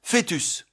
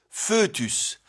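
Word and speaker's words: fœtus: Leur correspondant français s'écrit avec la double voyelle o mais prononcé etip enologie esophage fétus. Mais la prononciation e est courante en particulier dans fetus feutus par confusion avec le second cas.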